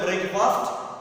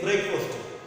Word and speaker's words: breakfast: Don't say breakfast. The pronunciation is breakfast.